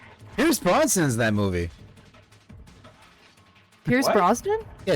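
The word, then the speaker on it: Brosnan: Bronson that movie Pierce broen yeah it's Pierce broen isn't it stop saying his name wrong no I refuse he always calls him Pierce Bronson I'm like who the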